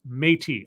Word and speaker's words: Métis: Metis is pronounced Métis.